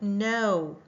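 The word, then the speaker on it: know: What about no? No. Right on. It the K is silent. There is no sound.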